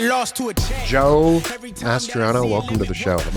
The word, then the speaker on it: Mastriona: Mastriona, yeah. Mastriona. Yeah, you were. I said Mastriona. Just a little bit off, but it's not easy. It's more of a Latin pronunciation of the name.